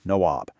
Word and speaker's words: Nawab: derogatory term for them, nabobs, which was a mangled British pronunciation of the Indian title Nawab.